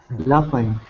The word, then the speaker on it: laughing: Laughing. Laughing. Laughing. Okay. Laughing. Yeah. The gh. Watch for the gh. That is an f sound. when it appears in the middle of a word, not at the beginning of a word.